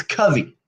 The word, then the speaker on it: Covey: when you were 10 is when you decided, and it's Covey, Yes, you're one of the very not few that Covey. actually pronounced it correctly.